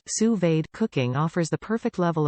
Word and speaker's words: sous-vide: Sous-vide, pronounced sue-veed, cooking offers the perfect level of doneness for nearly any food.